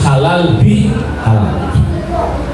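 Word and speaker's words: halalbihalal: Halal itu kalau menurut Profesor Quraisy Shihab bahwa halal bil halal ini adalah kata majmuk yang pengucapannya diulang, terus di tengah-tengahnya halal bil halal itu ada huruf ba yang dibaca bi menjadi halal bi halal.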